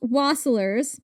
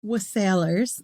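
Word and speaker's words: wassailers: In centuries past, waslers was sailors.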